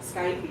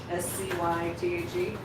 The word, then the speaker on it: scythe: I've never heard Skype pronounced with a K sound, more like S long L. So like side. What word? What you pronounced like Skype? SCYTHE?